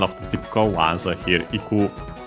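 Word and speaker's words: 行く: Particle ni, so towards, and yeah, used with a verb of movement, one of the typical ones here, iku, to go, unaccented. Again, actually here we see technically a present better used.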